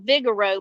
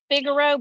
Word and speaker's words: Figaro: you want to go it's Vigoro you're saying Vigoro but it's fgo but it's pronounced yeah f i g a r o